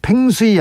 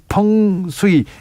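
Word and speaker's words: feng shui: 재봉정님께서 풍수는요, 펑수이입니다. 팽수이 아니고요. 네, 펑수이. 이 중국말을 그대로 영어로 써가지고 팽수이 아닙니다.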